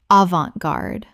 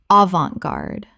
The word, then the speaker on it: avant-garde: Common mispronunciation. Avant-garde. Correct pronunciation. Avant-garde. 3 syllables with the T silent and the an making an on sound.